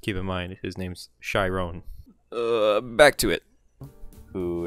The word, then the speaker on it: Chiron: his name is pronounced Chiron when I was pronouncing it Chiron like the Centaur trainer of Heroes in Greek